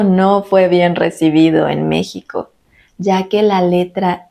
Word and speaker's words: México: esta regla Ya que se pronuncian con el sonido de la J son México Texas Oaxaca recuerdas que los españoles